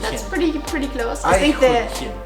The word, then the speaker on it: Eichhörnchen: I want you to try and pronounce Eichhörnchen. Eichhörnchen. Yes, yeah, Eichhörnchen. that's pretty close. I think Eichhörnchen. the CH there is really difficult. It's to really, pronounce.